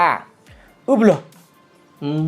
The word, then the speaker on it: Hublot: ไว้ นะ ครับ อ่าน ออก เสียง ว่า อุบ อื ต้อง ไป เน้น ๆ บ บ เนี่ย เน้น เสียง ดัง แต่ ต้อง ไม่ ลาก บล ยาว ๆ ด้วย นะ อุ ถูก ต้อง